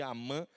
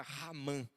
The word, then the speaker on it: Haman: mal chamado E aí Alguns cham de Amã mas a palavra realmente que está colocada é palavra raman né o r né que nós não pronunciamos com o som de h mudo mais um h aspirado igual hot dog né E raman literalmente